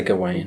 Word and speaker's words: Gawain: Gawain, Gowan, Gavin... I say Gawain. Gawain. I mean, I've heard different variations on this. Well, some people are still called that. Gavin, yes. No, Gawain, some people are still called as well.